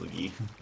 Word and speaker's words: Lugi: Here we have Lugi putting that work right now. Is that how you say it, Lugi? Let me know. Yes, it's nice. pronounced Lugi.